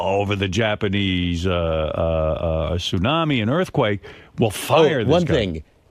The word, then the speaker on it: tsunami: the Japanese uh uh tsunami, an earthquake will fire this. One thing, you know, I keep hearing tsunami, but do you see it printed? It's there's a T in front. Tsunami.